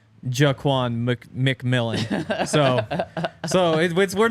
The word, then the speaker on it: McMillian: And then I asked him this past week, how do you say your last name? McMillian, even though it's just spelled MC.